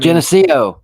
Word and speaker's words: Geneseo: I mean, Geneseo, right?